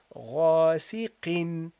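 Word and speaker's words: غاسقٍ: kasra, غاسي, and then the qaf with what? With two kasras. Okay, this means that you have to add in pronunciation a noon at the end. So you say غاسق قin قin. Do you hear this? قin. There is no noon here. Do you see a noon here, guys? Do you see a noon? غاسق قin. You see, I pronounce a noon, literally noon. غاسق قin. But there is no noon written.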